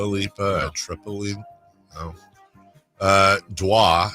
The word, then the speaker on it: Dua Lipa: Dua, I believe is how it's pronounced.